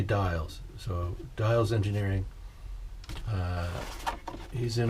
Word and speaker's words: Diels: And this is Diels, Dave Diels or Diels. I've heard it pronounced both ways. I say Diels.